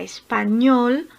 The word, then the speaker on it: español: Ñol es la sílaba tónica, es la sílaba más fuerte.